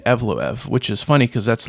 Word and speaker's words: Evloev: Bruce Buffer was saying Evlov, which is funny cuz that's like if you read the name that's exactly what it looks like it would be pronounced.